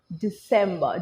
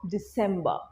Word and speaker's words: December: And obviously last month jeram bollam December. December, wrong. Right holo December. December. Keep the R silent to sound more authentic British in terms of your pronunciation.